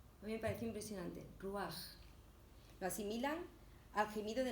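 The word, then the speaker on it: רוח: Y en hebreo se pronuncia ruaj. A mí me pareció impresionante, ruaj.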